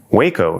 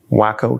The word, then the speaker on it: Waco: Waco, she learns, is pronounced with a long A sound, which is disappointing. She prefers, and who wouldn't, the comic splat of wham, pow, wacko. Waco, Texas.